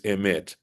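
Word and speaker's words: אמת: The word in Hebrew for truth is emet. Emet is spelled Aleph, Mem, Taf, the first letter of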